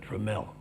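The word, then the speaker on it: Tramell: a great story about the name this it's pronounced tremel right the uh catherine dramell and the first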